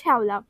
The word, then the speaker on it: শ্যাওলা: যেমন শ্যাওলা, আমরা বলি শ্যাওলা, কিন্তু এর সঠিক উচ্চারণ শ্যাওলা।